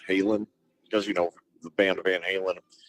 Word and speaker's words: Halen: there's a town called Halen, because the band Van Halen, and yeah, that there is a small town called Halen, or Holland as they pronounce it, in Belgium, which presumably is where Eddie and Alex's ancestors came from.